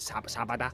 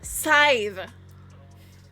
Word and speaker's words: Sadhbh: saying, How do you you pronounce know- your name? What is it? Sabada? Scythe.